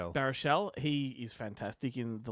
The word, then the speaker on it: Baruchel: Baruchel.